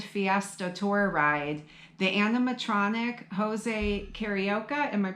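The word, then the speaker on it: José Carioca: at the Grand Fiesta Tour Ride, the animatronic Jose Carioca, am I pronouncing that right?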